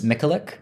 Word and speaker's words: Mikulik: I looked up a pronunciation. Which is Mikulik.